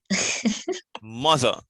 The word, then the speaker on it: mother: mother mother thank you mother the ending is what is called a schwa it's mother the same